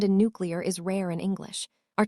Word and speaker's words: nuclear: Nuclear. Easy, right? Except millions say nuclear. Even presidents, even scientists. Why does this happen? Linguists call it metathesis when sounds swap places because the mouth finds it easier.